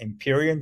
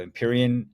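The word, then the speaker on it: Empyrean: Cloud solutions group has changed its name to imperion so which is spelled e m py re a n so imperion uh doesn't mean I'm an emperor few of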